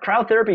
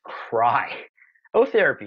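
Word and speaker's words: cryotherapy: that tip number four Crow therapy should be pronounced cry oh therapy because if you do it right it's gonna hurt so many different Crow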